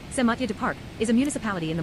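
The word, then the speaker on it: Saint-Mathieu-du-Parc: Matthew du Parc, French pronunciation, Saint Mathieu du Parc, is a municipality in the Morrissey region of the province of Quebec in Canada.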